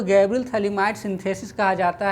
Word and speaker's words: Phthalimide: इसमें PH एक तरह से यहाँ साइलेंट है, थैलीमाइड इस तरह से लिखा जाता है।